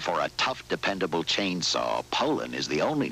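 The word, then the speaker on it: Poulan: Poland and for over 30 years they've been mispronouncing our name so we'd like to remind you that our name is Poland and for a tough dependable chainsaw Poland is the only name you need to remember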